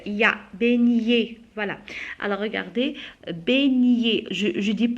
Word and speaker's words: beignet: Beignet, la même chose, on a B, E, I, ça prononce E. Beignet, E, T, se prononce E.